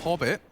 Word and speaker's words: Hobbit: have a fight here hobbit rhymes with pop it like the flashes will